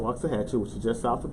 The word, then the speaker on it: Waxahachie: I was in a little small town called Waxahachie, which is just south of Dallas. Watch it, who? Waxahachie. Watch it. Waxahachie. If anybody's from, what's the name of that place again? Waxahachie. Waxahachie.